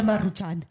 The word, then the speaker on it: Maruchan: Maruchanes? That's how you say it. Maruchan? Maruchan. It's 2 R's.